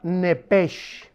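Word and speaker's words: נפש: Aconteció que al salírsele el alma, a los que traigan su Biblia, pongan ahí arriba de alma la palabra nepesh, como suena, nepesh con SH, como suena, que es la palabra en el hebreo para alma.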